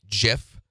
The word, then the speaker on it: GIF: the curtain scene so that's actually just a gif that's running G continuously GIF is the correct way to pronounce it so that's running it's an image